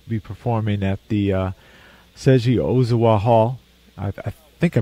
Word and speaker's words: Ozawa: You'll be performing at the Seiji Ozawa Hall. I think I pronounced the first name right, did I? Ozawa.